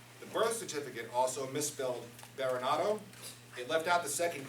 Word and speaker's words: Berenato: And it's because of that misspelling that I've actually gone back to pronouncing my last name more in the classic pronunciation, Berenato.